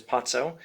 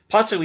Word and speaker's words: Pozzo: and lucky arrived potso i think the only pronunciation i've heard is potso it's p-o-z-z-o p-o-z-o p-o-z-z-o